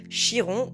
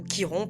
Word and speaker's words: Chiron: En astrologie, il existe un point hyper intéressant, un astéroïde qu'on appelle Chiron ou Kiron, peu importe comment vous le prononcez, le Sentor guérisseur.